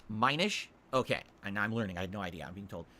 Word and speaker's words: Minish: when I was mentioning those did I it's pronounced Minish okay and I'm learning I have no idea